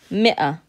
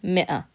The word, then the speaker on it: مئة: And for 100, مئة, مئة, مئة. So you're pronouncing in فصحى the همزة there, مئة.